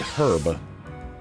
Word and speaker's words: herb: A white herb. This sacred herb. Stu, it's herb. Why is it spelled with an H?